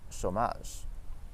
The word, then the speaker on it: chômage: It is also pronounced as O when a word has the accent circonflexe, which we'll talk about in another video, like the word chômage.